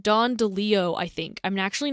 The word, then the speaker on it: DeLillo: his name pronounced Don DeLeo, I think. I'm actually not sure because it's Okay. DELILLO. So if it's pronounced kind of like Spanish, it's Don DeLeo.